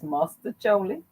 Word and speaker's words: Mostaccioli: And here they, I don't know why they got the name, but it's mustacholi, spelled with the O, Mostaccioli.